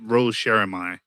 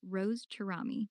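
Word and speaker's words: Rose Cheramie: Ara, her name is pronounced Rose Charami, Cherami.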